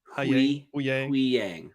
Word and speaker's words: Huyang: There was is it Huyang? I can never ever say it right. Huyang.